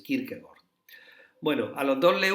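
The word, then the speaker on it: Kierkegaard: y el el danés senen Kirk gord se pronuncia así Kirk gord Bueno a los dos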